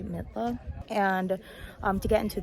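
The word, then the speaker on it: Mitla: we went into midla i mispronounced it earlier i said milta it's actually midla and um to get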